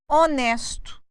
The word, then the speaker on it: honest: O Curioso é que mesmo na língua inglesa algumas vezes o h também é mudo pode vocês podem ver como a questão da palavra honesto honest continua sendo lá nós temos também os